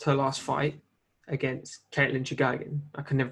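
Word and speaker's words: Chookagian: All I know is she has lost her last fight against Caitlin Chukagian. I can never pronounce her name. I think that's how you say it. Chukagian.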